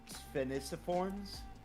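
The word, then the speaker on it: Sphenisciformes: I'm trying to figure out how to pronounce this. Spheniciforms?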